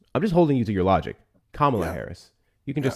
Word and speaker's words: Kamala: You're you're not talking about Camala Harris. Oh, so remember that thing you mentioned about like people can't pronounce words.